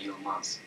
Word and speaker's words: Yilmaz: J'oppose S et Z entre mas et maz en sensibilisation à la discrimination auditive. Maz. Mas. Y- Mas. Y-I-L-M-A-Z. Yilmaz.